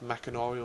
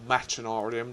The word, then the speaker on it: Machinarium: And we also have Machinarium, or Machinarium, depending how you wish to pronounce that one.